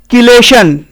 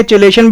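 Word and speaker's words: chelation: इसको वैसे सही तरीका बोलने का है किलेशन। यहां पे KEY वाला प्रोनाउंसिएशन ज्यादा बेटर है, लेकिन हम लोग इंडिया में देशी भाषा में चिलेशन भी कह देते हैं, ठीक है।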